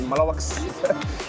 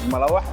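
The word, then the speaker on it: malawax: So some some of you guys may not be able to pronounce you might call it malawak but the correct pronunciation is malawaka.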